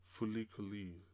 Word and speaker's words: FLCL: And yeah, this anime definitely reminds me a little bit of this other anime called Fulikuli, which is spelled FLCL.